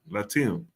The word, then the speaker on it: Latium: How do you pronounce that? Latium.